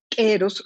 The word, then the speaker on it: Q'ero: Porque además que a los queros los pintan como unos seres pues mágicos. Entonces, Quero, claro, se pronuncia Quero. ¿No? ¿Quero? se pronuncia quero, Quero, ok. así como gutural, Ok, quero.